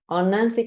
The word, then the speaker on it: Oenanthe: And then the next three, how do you pronounce this one? It's Oenanthe? Oenanthe crocata.